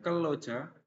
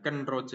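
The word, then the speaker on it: 근로자: Kemudian keloja, jangan kenroja ya, ini nanti diulang lagi belajar bajimnya.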